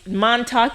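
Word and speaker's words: Montauk: Montalk is a place.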